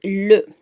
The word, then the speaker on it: le: So this is how we pronounce it, le.